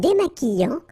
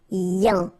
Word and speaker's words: démaquillant: So we've got this Q-U, but then U is not pronounced. So you get the sound qui. Okay? And then remember, double L after E will give you the sound y. Démaquillant. Final T not pronounced. Démaquillant. Okay? And this is nasal in your nose.